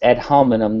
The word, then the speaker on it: ad hominem: It's not ad hominem. It's ad hominem, not ad hominem.